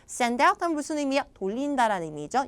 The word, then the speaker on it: send out: 자, 그래서 자, 아이디어는 최대한 간단하게 send out text messages. send out text messages. 자, 구동사는 뒤에 강세였어요. send out 하면 무슨 의미야?